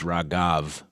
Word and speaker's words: Raghav: So, Raha, my wife was like yelling at me last night for saying this name wrong, but it's like Ra. First of all, I have Ragad written and it's Raghav.